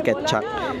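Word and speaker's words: Kecak: kak kak kak so it's kaya siya naging Ket chak it's it's spelled like kek kak Pero sabi ni madora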